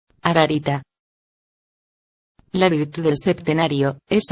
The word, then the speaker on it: Ararita: Esta palabra se pronuncia ararita.